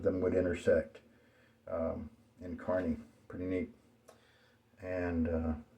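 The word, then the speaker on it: Kearney: so I know that you pronounce that Carney instead of kiery or something like that and carne is interesting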